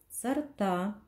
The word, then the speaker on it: сорта: точно знаете как проверяются сорта ударение падает на а должны проверить букву о